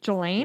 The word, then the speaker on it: Ghislaine: Jelaine. Jelaine Maxwell was found Jelaine.